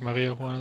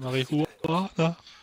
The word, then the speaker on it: Marihuana: Nee, nicht Maria Juana, sondern Marihuana.